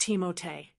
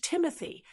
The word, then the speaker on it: Timothée: His first name, Timothy, is French and it's pronounced Teimote, though he said he's totally fine with people using the more English Timothy.